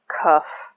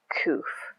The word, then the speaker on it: Kuf: However it is pronounced in certain languages, or you pronounce it. There are several ways of doing it and set in different spellings as well. Kuf, Qoff, Koof. I'm just going to say Kuf.